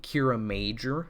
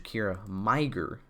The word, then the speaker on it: Kiramager: a fun year because it's officially cure a major like a mage but Google is trying to change it to Kyra my gir so Emmy you're and that's not that's um that's a no good that's another girl on you Google Google you better fix it I think that's what